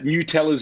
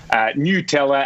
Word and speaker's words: Nutella: And that's according to Nutella's own website, where they break it down. Nutella as in N-E-W.